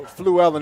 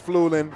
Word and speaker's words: Fluellen: You know, Fluellen isn't the most common last name, so I've been called Flulin, Flulalalan, Flulilalan.